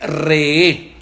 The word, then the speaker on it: Re'eh: Eso quiere decir Re'eh. Se escribe R-E-E-H.